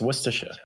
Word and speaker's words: Worcestershire: Yeah, it's Worcestershire.